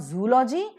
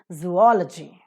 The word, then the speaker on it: zoology: are there only here I have heard the pronunciation of zoology it's not zoology but it is zoology I'm a zoologist zoology